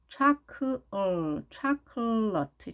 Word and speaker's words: chocolate: 자, 그러면 강세는 어디 있을까요? 모음 소리가 많이 있죠. O, O, A, E. 자, 4개나 있는데 끝에가 발음되지 않는다고 쳐도 자, 강세가 맨 앞에 O에 있는 발음입니다. 그래서 이렇게 발음되겠죠. 촤, 촤, chocolate 이렇게 되죠.